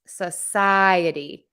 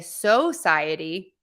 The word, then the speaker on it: society: because that's unstressed society and my PSI in the middle is stressed Society Society Society I do hear people say Society that's okay too um but a lot of people will reduce that first syllable to SA all right just going